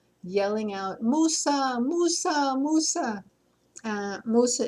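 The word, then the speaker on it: موسى: Musa is how you say Moses in Arabic.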